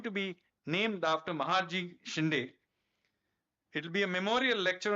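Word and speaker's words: Shinde: Um their descendants are now known by the anglicized versions the Cindyas but they are actually their real pronunciation is Shindai and Maharaji Shindai was one of the most interesting characters of 18th century India.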